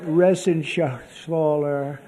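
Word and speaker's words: Reschenthaler: Shaler you know that Ren Schaller he's uh that's actually the way you pronounce it you know nobody else gets it right I got it right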